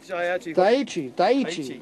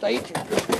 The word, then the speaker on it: Daiichi: Daiichi. That's how you pronounce it. Daiichi.